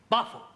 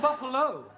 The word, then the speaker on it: buffalo: a big boo oh Buffalo teril confused yeah words that end in o like Buffalo or radio or vertigo you pronounce the O but when there is no o you don't add one understand yes sir I